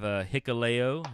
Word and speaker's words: Hikuleo: I have Hikuleo. See, I said it right that time. Of course. He had to spell it phonetically. Hikuleo.